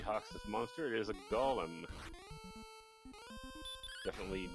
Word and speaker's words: golem: We'll go with golem. That's what I always called it as a kid. So the golem smacks down MeleeWizard, sends him back to the king. I think the Gollum pronunciation became popular with Lord of the Rings popularity.